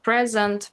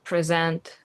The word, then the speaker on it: present: the first syllable, but if it's a verb, it has to be on the second syllable like present, present, visit, visit, record, record.